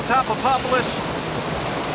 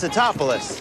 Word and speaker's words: Tatopoulos: footprints through panama and jamaica no one can pronounce his name dr nico topapolis it's the top of us it's satopolis whatever how did mrs tatapolis handle that it's